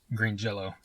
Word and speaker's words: Green Jelly: said but it's pronounced Green Jello so even though it's spelled green jelly it's still pronounced Jello they they they could